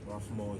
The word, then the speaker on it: Rafmoh: Rafmoh is spelled R-A-F-M-O-H.